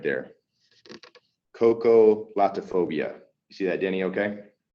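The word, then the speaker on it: xocolatophobia: it starts with the next yes but it's pronounced yeah it's cocolate phobia so it's interesting spelling so we'll say x o c o el plato o b uh that's it right there cocolatophobia you see that danny okay yeah kind of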